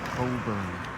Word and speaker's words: Cockburn: It's spelled Cockburn, but it's actually pronounced Coburn.